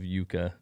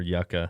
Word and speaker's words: yucca: he's pro marshmallow um he also corrected me on my pronunciation of yuka um or yucca the people have spoken that people have spoken i was wrong daisy what's up daisy's